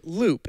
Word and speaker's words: Loupe: because you always called Loop and right for the listeners out there Loop is spelled l-o-u-p-e for context yes the control Loop